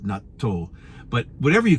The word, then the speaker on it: natto: about before it's called natto in Japanese but in English I think it's just pronounced Nat but since my wife is Japanese we always call it NATO but whatever you call